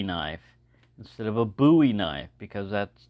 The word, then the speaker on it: Bowie: someone call it a Bowie knife instead of a buoy knife because that's that's the way it's pronounced here in Texas it's buoy not Bowie and to go through